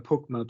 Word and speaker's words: POCMA: So the arcane pronunciations poka, pokma, pokes.